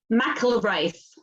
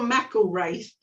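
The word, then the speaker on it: McIlwraith: um what is it Michael of rice oh Mackle race I did a video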